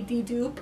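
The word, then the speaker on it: Dedoup: I believe it's D-E-D-O-U-P, D-Doop, I think, is how you say it.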